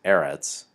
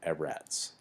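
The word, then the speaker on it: אֶרֶץ: shaped vowels there and when we have a Sega lat noun we have accent on the first syllable so it's Eretz and not ever ATS the plural is a-rod's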